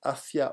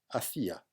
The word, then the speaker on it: hacia: importante en 1492 vamos hacia una unidad territorial y religiosa cuidado asia no tiene acento así se pronuncia hacia no se pronuncia hacía cuando se pronuncia asia